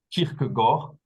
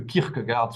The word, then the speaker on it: Kierkegaard: Quant à la prononciation exacte du nom propre, il convient de dire Kierkegaard, bien que le Kierkegaard soit passé dans les mœurs françaises très largement.